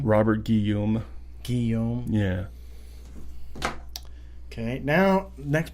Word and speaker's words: Guillaume: yeah how do you say his name Robert Guillaume Guillaume yeah okay now next part I have